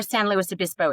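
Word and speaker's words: San Luis Obispo: And I do know where St. Louis Abyspo is.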